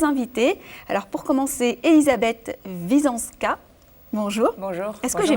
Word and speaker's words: Visoanska: Alors pour commencer, Elisabeth Wisąska. Bonjour. Bonjour. Est-ce que j'ai bien prononcé?